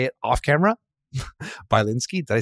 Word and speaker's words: Bilinsky: I know how to say it off camera by linski did I say right yes I know I